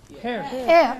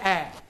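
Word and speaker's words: heir: H-E-I-R? Hair. Air. No, the word is air.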